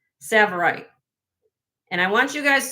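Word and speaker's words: Tsavorite: This is a 1 and a4 karat savverite garnet.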